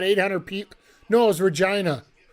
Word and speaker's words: Regina: No, it was Regina. The city that rhymes with fun.